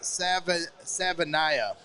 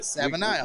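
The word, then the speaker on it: Savaiinaea: in the chat says Savanaya. We got it. Savanaya. We got it. Very easy. Look at that. I'm going to trust Dane Brugler, but yeah. You did it. Savanaya is a physically imposing blocker, both alert and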